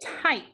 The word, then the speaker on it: type: Now let's look at type. What sound is that Y making? Type. Long I, it says I.